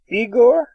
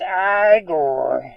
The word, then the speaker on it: Igor: Are you the, castle keeper? Igor? It's Igor. Not Igor? No, They said, Igor. they said wrong. It's Igor.